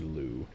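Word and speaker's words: Liu: Her last name is pronounced Lucy Lou.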